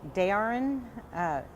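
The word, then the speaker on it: Derrain: Dayarin, it's spelled D-E-R-R-A-I-N.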